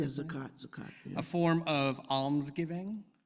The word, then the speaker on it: zakat: Am I pronouncing that correctly? Yeah, zakat.